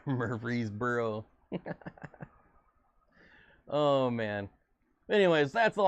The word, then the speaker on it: Murfreesboro: it from going through it's pronounced murphy's burrow mur murfreesboro oh man anyways that's